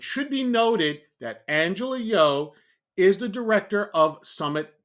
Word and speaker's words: Yeoh: This was first reported by Angela Yeoh, and I believe that's how her name is pronounced, but it is spelled Y-E-O-H.